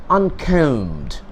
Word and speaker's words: uncombed: His coat is untidy and his whiskers are uncombed. Here, one important thing to be pointed out, uncombed. check out the pronunciation well. UNCOMBED. Here B remains silent. We don't pronounce the B, right?